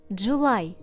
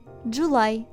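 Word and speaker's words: July: City study sry Friendly запам'ятай виключення липень Джулай читається в цьому слові не як звук і в кінці слова а як звук I дулай Отже літера y має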